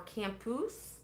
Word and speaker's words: Campos: She pronounces it more Campus.